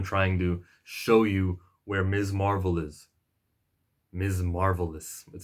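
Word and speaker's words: Ms. Marvel: this was them trying to show you where Ms Marvel is mrs. marble this it sounds like I said that oh by the way the way to pronounce her name is not miss Marvel it's Ms marvel I can't do a video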